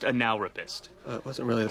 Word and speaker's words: Analrapist: business card no no it's pronounced analist it wasn't really the